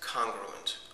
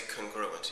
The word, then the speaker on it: congruent: We call those figures congruent, or some people say congruent. Either pronunciation is fine.